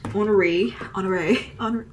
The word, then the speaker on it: Honoré: All right, let's take Saint Honoré, I just Googled how to say this.